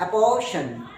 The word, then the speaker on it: apportion: अपोर्शन, APPORTION, याद रखना जहां भी TION आ जाए वहां उसकी प्रोनाउंसिएशन क्या होगी? शन। अपोर्शन क्या है? अपोर्शन।